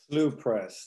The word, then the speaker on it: Slough: Is it Slough Press or Slough Press? Slough Press. That's how I know they pronounce it.